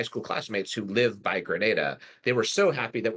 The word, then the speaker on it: Grenada: And I would note in response, Eleanor, to your elliptical comment that it is, in fact, Grenada, California. Yes. So just for the record, like I actually pronounced it Granada for the longest time.